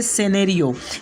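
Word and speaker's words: scenario: में चौथा वर्ड है सेनेरियो। यहाँ एस के बाद सी आया इसलिए यहाँ पर सी साइलेंट होगा।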